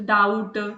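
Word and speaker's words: doubt: तो honest डाउट हम इसको जिस तरीके से रीड करते हैं।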